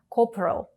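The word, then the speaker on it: corporal: підрозділів coprol командує відділенням увага у вимові слова копро три склади Але у другому та третьому голосні стоять вони наголошені позиції тому вимовляються як ненаголошене е копрал саджан сержант саджанці заступник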